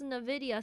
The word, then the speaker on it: Nvidia: Nvidia is pronounced Nvidia. It's not Nvidia, it's Nvidia. Nvidia.